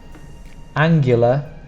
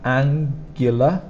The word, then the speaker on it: angular: When we pronounce it, it's more like a GU, GU. So you might want to put a Y, but we don't put that in there. GU is GU.